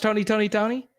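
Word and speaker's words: Tony! Toni! Toné!: tone uh oakland california from 1986 to 1997 tony tony tone okay r b group dwayne wiggins timothy christian riley and raphael sadiq there we go is it is it still oh it's still pronounced tony tony tony i i i just i just remember seeing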